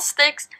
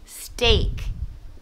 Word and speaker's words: steak: want to fix and she mispronounced the word steak small sticks stick or stick it should be steak I'd be a young